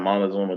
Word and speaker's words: Montezuma: You attended the Macon County High School in, how do you pronounce that city? Montezuma? Yes, ma'am. Montezuma, Georgia.